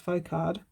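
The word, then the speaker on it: Folkard: never heard of but charles focard that's how you say it one of mum and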